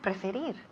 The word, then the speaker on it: prefer: Okay, and finally we have preferir. To prefer. Perfect. Muy bien. Repeat again. To prefer. Perfect. Eso es. To prefer. To prefer. Y el acento recae en la segunda sílaba.